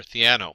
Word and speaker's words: Theano: And the first thing you'll notice is that Keras runs on top of either TensorFlow, CNTK, and I think it's pronounced Thano or Theano.